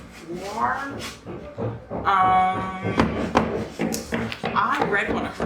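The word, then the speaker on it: Ware: I think her last name is pronounced Ward.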